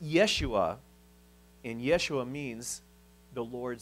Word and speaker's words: Yeshua: the old testament but hebrew doesn't have a j sound so there's no joshua or jesus so the name would be pronounced yeshua and yeshua means the